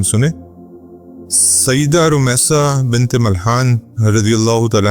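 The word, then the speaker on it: Rumaisa: इनकी प्रोनाउंसिएशन में कई लोग इनको रोमसा पढ़ते हैं गाइन से और कई लोग र से जो है वो रोमसा लेकिन ज्यादा जो नरेशंस है वो रॉ से है रूमसा मलहान ही इनका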